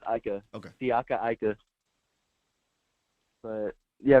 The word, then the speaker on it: Ika: Is it Siaka Ika? Is that how you say it, Professor O? Yeah, it's Ika.